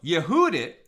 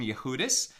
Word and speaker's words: Yehudit: So Yehudit, and that was her name. Very often the wives of sages aren't named, but she is Yehudit, or more Ashkenaz pronunciation, Yehudis.